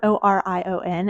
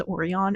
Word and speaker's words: Orion: are reading these books and you're like who's it's spelled o r i o n and I thought it was oron at first listen to the audio book of